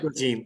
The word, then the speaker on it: Prigogine: the supervision of Elijah Prigogine, I think that's how it's pronounced. That's right. Prigogine, okay.